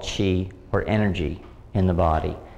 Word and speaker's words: qi: In China, they call it qi, either spelled C-H-I as it's pronounced, or Q-I.